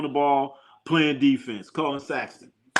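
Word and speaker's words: Sexton: Colin Saxton. Saxton. I'm sorry I said his name wrong.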